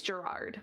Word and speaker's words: Gerard: It's Gerard, by the way. Gerard. Okay. That was better, it. Because Gerard It's spelled very similarly to Jared.